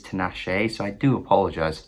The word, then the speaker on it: Tinashe: to nashee's name correctly i always thought it was to nash but it is tenache so i do apologize